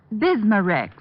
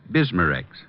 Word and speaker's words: Bismarex: Bismarex. Is that how you say it? That's right, ma'am. B I S M A-N R E X. Bismarex.